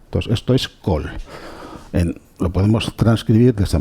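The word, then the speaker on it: קול: Esto se pronuncia kol, ¿no?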